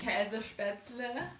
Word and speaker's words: Käsespätzle: I am totally butchering that pronunciation, so I'm going to let Kati pronounce it properly for me. Käsespätzle.